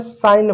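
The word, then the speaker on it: sign: इसको हमने साइन पढ़ा। इसको हमने साइन पढ़ा, डिज़ाइन पढ़ा, फॉरेन पढ़ा। जी साइलेंट है।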